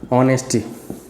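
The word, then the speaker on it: honesty: ऑनेस्टी, एच यहाँ silent है, उच्चारण कैसे कर रहे हो? आ, यहाँ मैंने क्या बोला? आ।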